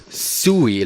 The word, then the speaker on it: SUI: as simplified user interface pronounced Sooey like a chewy Chewbacca chewy cookie yeah that's how we